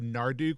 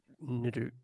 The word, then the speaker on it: Niduk: I think I said Narduk, which I think is incorrect. Is it Niddick? How is it pronounced? Yeah. Well, actually, like we can defer to the voice of the author here. Yeah. What's the canon pronunciation? Niduk was how I said it in the trailer.